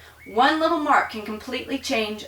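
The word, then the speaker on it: aux: beginning to realize that the Au U and even with an x on it is pronounced o okay so if I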